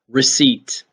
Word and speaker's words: receipt: all right number five receipt receipt and this is the ending that kind of tricks us a bit um and a receipt